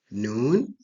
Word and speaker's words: nun: Nun pronounced nun and sounds more like N.